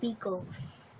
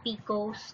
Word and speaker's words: picot: This one has picots. I've used to pronounce picots like picots, but when I heard it on the internet, they call it picots and not picots.